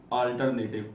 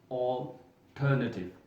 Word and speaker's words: alternative: अल्टरनेटिव, अल्टरनेटिव मुतबादल, अल्टरनेटिव इसको पढ़ा जाता है, but this is नॉट अल्टरनेटिव, rather this is ऑल्टरनेटिव, ऑल्टरनेटिव, ऑल्टरनेटिव पढ़ा जाएगा इसको, ऑल्टरनेटिव।